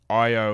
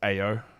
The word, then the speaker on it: Io: Let's take Io at that spot. It's so annoying that his name is not pronounced Ao.